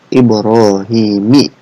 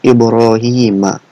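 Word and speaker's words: إبراهيمَ: ncan menggunakan plat H jadi bukan dibacanya ada ibrohimi ya melainkan ibroohiima Kenapa karena ia itu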